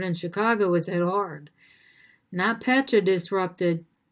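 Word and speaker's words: NotPetya: food company headquartered in chicago was hit hard not petra disrupted not p-e-t-y-a is how it's spelled disrupted email logistics caused 100 million in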